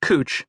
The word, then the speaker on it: Couch: Rachel got a one-bedroom apartment on a street whose name was spelled couch, but inexplicably pronounced cooch in the local demonic.